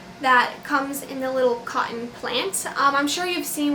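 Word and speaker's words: قطن: So the word cotton actually derives from an Arabic word called cotton. It sounds exactly like the word cotton if it is pronounced correctly.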